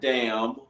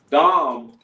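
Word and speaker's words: דם: all right Dom not damn uh nothing like that is it it's pronounced dumb so don't don't don't want y'all say damn but nothing like that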